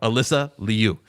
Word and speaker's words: Alysa Liu: So, neutrally, can we play the clip of Alyssa pronouncing her own name? Alyssa Liu. Alyssa There you go. Alyssa Liu.